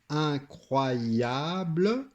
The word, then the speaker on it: incroyable: mot qui peut-être difficile incroyable le E est quand on prononce c'est incroyable le E en réalité on le prononce pas il est atténuer les muet c'est pour ça qu'il est